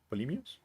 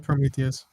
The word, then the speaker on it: Prometheus: and yeah, Is it yeah, like pretty fucking Polymeus? How do you say his name? Prometheus.